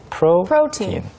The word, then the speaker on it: protein: 네, 프로틴 할 때 발음할 때 주의하실 것은 프로 부분에 강세가 있어요. 프로틴 이렇게까지는 아니지만 right, right. 어느 정도 protein.